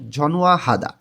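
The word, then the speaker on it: 전화하다: ঝনহুয়া হাদা ফোন করা নিউন বাচ্চিমের পরে যখন হিউত আসে তখন এটা নো টাকে হ এর স্থানে নিয়ে উচ্চারণ করতে হয় ঝনুয়া হাদা ফোন করা ঝনুয়া হাদা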